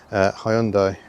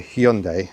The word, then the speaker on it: Hyundai: Hyundai Sonata. Sorry, Hyundai. I've got to get my pronunciation correct, haven't I?